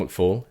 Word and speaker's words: McFall: one-legged astronaut was John McFall and that is his name but I realized I pronounced it John Mcall three times really after that yeah